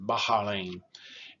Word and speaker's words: Bahrain: They pronounce it Bahrain.